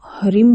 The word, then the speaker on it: ह्रीं: कई लोग इसे रिम कहते हैं और कई लोग इसे हरिम कहते हैं। इसका वास्तविक जो उच्चारण है वो हरिम है, लेकिन आप अपनी सहजता